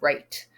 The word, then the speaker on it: write: Then the next mistake that I notice is with the word write. When you're spelling write as in to write your name, there is a silent W at the beginning.